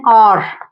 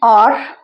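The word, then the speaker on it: hour: ये हार नहीं बोलते इसको, ठीक है, एच साइलेंट है, ठीक है, आ की आवाज आ रही है।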